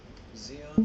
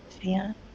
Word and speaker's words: Zeon: And their name is phonetically what you would be saying if you were saying Zion in Japanified English.